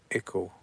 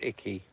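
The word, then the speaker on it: Icke: It's pronounced Ickle. Icky. It's pronounced Icky.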